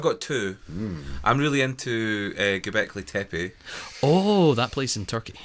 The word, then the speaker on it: Göbekli Tepe: I'm really into Göbekli Tepe. Oh, that place in Turkey. Yeah, I like The so. one that everyone keeps mispronouncing is Göbekli Tepe.